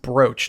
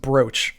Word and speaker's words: brooch: that this is pronounced brooch, not br. It looks like brooch. It looks like it'd be pronounced brooch. Uh but he said it's pronounced brooch, like roach but with a B.